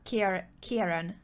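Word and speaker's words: Ciarán: I was told that I should pronounce it as Kieran, Irish. Irish spelling. Oh, I thought that was like K-I-E-R-A-N or something. I thought that's how you spelled Yeah, so that would be, but this is written in Irish, so the spelling and the pronunciation is completely different.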